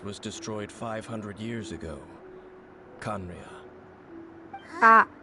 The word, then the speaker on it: Khaenri'ah: Khaenri'ah. Ah, Conria? that's how you Really?